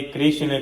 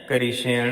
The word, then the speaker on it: कृष्ण: यह संपूर्ण भगवान श्री कृष्ण का नाम है इसीलिए भक्तों शुद्ध उच्चारण है कृष्ण है कृष्णा नहीं कृष्ण है क री ष ण अकार विसर्ग करण है यह नामकरण वाले